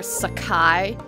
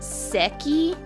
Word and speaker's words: Seki: clamps series tsubasa and for the longest time i called her sakai but i think it's actually pronounced seki s-e-k-i i don't know i